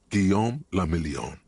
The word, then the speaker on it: Guillaume Lamillion: For Revachol, your city, that meant only one thing: Guillaume Lamillion. If it doesn't rhyme, you're not pronouncing it right.